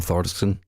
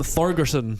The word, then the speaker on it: Thorgerson: album artworks by Storm Thorsten. Thorsten? You didn't say any of those words properly. How'd you say his name? Is it Storm Thorsten? Storm Thorgerson. Thorgerson. You just said about 20